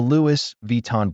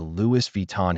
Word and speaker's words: Louis Vuitton: Think of the name Louie, not Lewis.